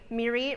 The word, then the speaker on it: Mirit: Mirie rhymes with deer meat or beer seat. So, if you can't remember, imagine me eating venison on a bar stool and it might come to you.